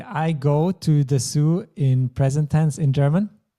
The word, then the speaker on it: Zoo: in we say so if we have double O it's quite rare in German but we just keep pronouncing it as o we don't change it to O like you would in English so it is there